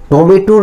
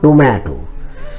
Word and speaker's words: tomato: যেমন ধরুন আমরা মুখে বলি টমেটো, তো ওকে শেখাতে হবে, বাচ্চাকে শেখাতে হবে টমেটো মুখে বললেও টমেটোর নাম কিন্তু টমেটো নয়, টমেটোর নাম টোম্যাটো।